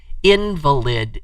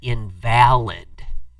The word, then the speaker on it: invalid: A word that can be totally invalid is one of them. Because just pronouncing it differently by putting the accent on a different syllable, you get invalid.